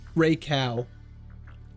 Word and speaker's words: Raikou: It's pronounced Raikou.